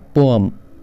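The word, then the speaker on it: poem: हैं बेटा पोयम सुनाइए यह वाली पोयम नहीं होता इट इ पोम पोम पोम पोम next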